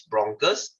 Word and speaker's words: bronchus: And then they will split into two, which is bronchus. They spell almost the same as branches. So I just remember them as branches, bronchus. You see, the pronunciation is almost the same.